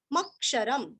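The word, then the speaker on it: अक्षरम्: सदसत क्षर सदसत क्षर मक्षरम मक्षरम म पूरा पढ़ के म के ऊपर आघात मक्षरम लास्ट में आधा म सदसतक्षरमक्षरम सदसतक्षरमक्षरम सदसत्क्षरमक्षरम ऐसे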